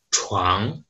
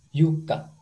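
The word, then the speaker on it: 床: Oke, kosakata berikutnya ini kalau di bahasa Mandarin cara bacanya chuang, chuang, ya chuang itu artinya adalah kasur atau ranjang ya, chuang, ranjang. Di bahasa Jepang, Kalau di bahasa Jepang, cara bacanya yuka.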